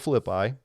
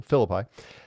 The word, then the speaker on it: Philippi: this area in Cesaria Philippi. I keep putting the emphasis on a different syllable. Philippi and with these huge stone cliffs near Mount Hermon.